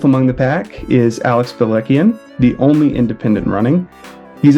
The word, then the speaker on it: Balekian: Well, the Americanized pronunciation that I say is Balekian. Okay. The correct way is Balekian.